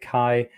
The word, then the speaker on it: Qi: but it's got the the ties out you pronounce it Qi Chi wireless charging things my my air pods and